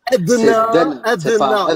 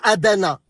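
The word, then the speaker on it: أدنى: C'est Adna. Allez, s'il te plaît. Adna, et pas Adana.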